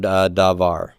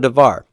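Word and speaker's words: דָּבָר: Now, what do you notice about the word davar? Davar is already final syllable stressed, isn't it? You just always stress the final syllable.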